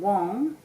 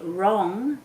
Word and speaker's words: wrong: So if they're saying wong, then they're going to spell it W-O-N-G. If they say wrong, then they're going to spell it R-O-N-G for starters, and then we'll tell them about the silent W.